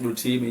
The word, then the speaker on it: Rotimi: is like your instrumentals featuring on, is it Rotimi? Is that how you pronounce it? Rotimi, yeah.